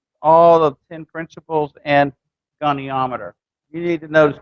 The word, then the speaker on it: goniometer: Well, we're going to have one tomorrow that has the principles of all the 10 principles and goniometer.